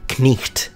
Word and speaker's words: knight: So rather than saying knight, you would say knicht. I know, it sounds very Germanic.